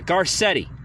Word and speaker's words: Garcetti: Yeah, Garcetti, right?